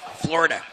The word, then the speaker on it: Florida: You've got to say it like floor with a double O. That way you sound like a Floridian when that's how they speak. Florida.